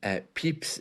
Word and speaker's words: Pepys: Samuel Pepys' diary provides an invaluable first-hand account of this